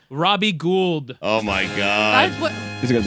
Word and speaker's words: Gould: Gould? Yeah, no, it's gold.